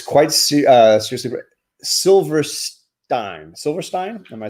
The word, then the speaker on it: Silverstein: Silverstein? Am I saying it right? Silverstein.